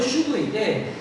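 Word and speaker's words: שוב: 발음은 슈브인데 이게 구약 성경에서 정말 많이 나오는 단어예요.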